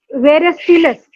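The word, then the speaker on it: versatilis: Latin word है जिसका pronunciation है वेरेस्टिलस. इसको वेरेस्टिलस बोलेंगे लैटिन में.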